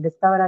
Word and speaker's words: discover: It's a prefix, right? And prefixes usually don't take any stress on itself. Okay? Which is why we are going to mark it on the next syllable, which is the uh, ka, right?